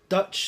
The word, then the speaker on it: DVTCH: Now it is Dutch spelt with a V, so it's DVTCH Amsterdam, and that's the website I think.